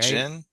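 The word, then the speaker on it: Djinn: Is that how you pronounce it? That's the last his last movie, right? Jin.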